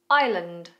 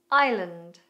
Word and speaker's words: Island: Island. Island.